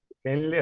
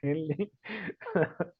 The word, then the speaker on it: Henle: ¿Cómo se pronuncia? Henle, así como suena Henle.